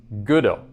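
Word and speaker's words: Gödel: The emphasis was just on the wrong syllable. Okay, I understand now. So in other words, it's Goodell. Yes? Like Goodell. Goodell.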